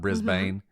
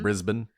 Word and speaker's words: Brisbane: I think that's how we're supposed to pronounce it, right? Not Brisbane. Mm-hmm. Brisbane.